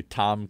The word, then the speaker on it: Tam: Tam Ky, TAMKY. And how do you pronounce it?